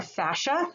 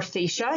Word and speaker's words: fascia: just wanted to mention our fascia or fascia you can pronounce it either way it is a